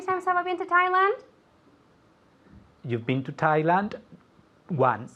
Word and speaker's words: Thailand: to Thailand very Thailand Thailand there's a d at the end Thailand I went to